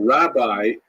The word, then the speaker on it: Rabbi: love alone is preferred the term Rabbi with that pronunciation it's actually kind of nonsensical in Hebrew you don't actually have that word pronounced that way in Hebrew but that's the way